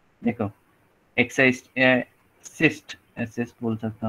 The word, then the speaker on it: XIST: फिर से मैं बोल रहा हूँ, देखो एक्साइज सिस्ट, एसिस्ट बोल सकता हूँ, प्रोनाउंसिएशन लाऊंगा, सीस्ट, सीस्ट, हाँ, ओके, XIST, ओके,